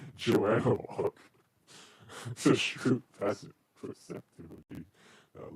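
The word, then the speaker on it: Joan of Arc: There's a good chance that Juan of Arc was a schizophrenic. Okay, probably should pronounce her name like that. Joanne of Arc.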